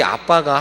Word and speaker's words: abba: 아버지라고 부를 수 있다 본래 이 아빠가 한국 말이 아니에요 원어 발음에 아빠 거든요 영어 성경의 abba 라고 되어 있거든요 아빠 이런 바람인데